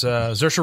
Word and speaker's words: Saoirse: It stars Saoirse Ronan. Saoirse? Yeah. Saoirse? Saoirse Ronan. Saoirse. Saoirse, yeah, Saoirse. Yep. It's spelled S-A-O-I-R-S-E, something mm-hmm.